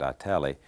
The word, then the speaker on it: Italy: There's a little town between Dallas and Waco called, I pronounced it Italy. I think the residents pronounce it Itali.